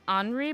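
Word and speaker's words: Henri: the frog's name again it's supposed to be pronounced hry but I'm saying Henry so it's h e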